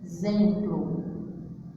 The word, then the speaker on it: exemplo: Se eu fosse escrever do jeito que eu falo, ó, olha como é exemplo. Exemplo. Ó, o meu X tem o som de Z.